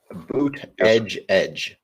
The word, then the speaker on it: Buttigieg: Real quick in the chat, Buttigieg. Buttigieg. That's how you say it.